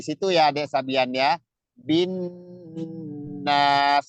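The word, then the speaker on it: النَّاسِ: Bin nas itu ditahan dulu. Jangan binas, kecepatan nggak boleh. Ya, setiap ada nun atau mim itu kalau ada tasdidnya bacanya ditahan kayak gitu tadi.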